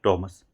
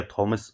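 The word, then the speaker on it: Thomas: Name इनका है ये इनका नेम है टॉमस। ठीक है? या थॉमस आप जब आप प्रोनाउंस करें।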